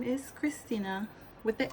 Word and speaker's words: Christina: most of the time, since the H is silent, people don't use the H when they spell my name.